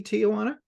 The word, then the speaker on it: Teajuana: I have another exciting interview with another very creative and talented quilter, and her name is Teajuana Mahone. Am I saying that correctly, Teajuana? Yes, Stephen, that's correct.